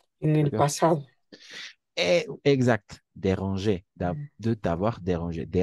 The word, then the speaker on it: dérangé: A nivel de la pronunciación vamos a pronunciar igual. Déranger al infinitif, este es el infinitivo del verbo ujú, déranger, y el participio pasado déranger, de la misma forma.